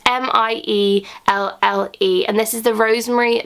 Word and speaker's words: Mielle: This is the, I think it's pronounced Mielle, I'm not too sure. It's Mielle, and this is the Rosemary Mint Hair kind of scalp strengthening oil.